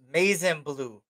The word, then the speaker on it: Mazin Blue: He says, pronounced Mazin Blue. Mazin Blue. Bet. Did I say that right?